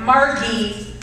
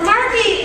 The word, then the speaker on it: Margie: However, my brother's soon-to-be wife, Margie, which, does anybody know anybody named Margie that pronounces the hard G like that?